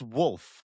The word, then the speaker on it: Wolf: It's Wolf. The LF is a very clear pronunciation. It's not new. This isn't hard.